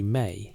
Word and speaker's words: ME: The word is written in cuneiform as ME, pronounced approximately May.